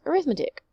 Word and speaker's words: arithmetic: or as a noun as an adjective it is arithmetic as a noun is arithmetic so we are talking